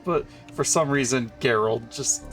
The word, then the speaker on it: Geralt: I know it's it's I know it's should be pronounced Gerald, but for some reason Geralt just sounds better.